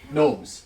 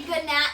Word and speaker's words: gnome: Gnomes. Gnomes. As Logan says, gnomes. Gnomes. Yes, they're gnomes. Yes. Because Izzy says when I say good nap because there's a G in my The game. G is silent.